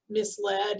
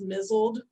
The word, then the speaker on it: misled: ann tyler when like the whole family had mispronounced misled as mizzled they were all very